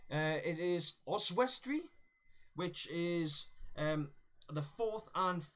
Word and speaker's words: Oswestry: I want to try and get the pronunciation right on this name. It is Oswestry, which is the 4th and 5th.